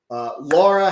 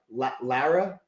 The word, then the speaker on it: Lara: Laura, how are you? I'm sorry, Lara, not Laura.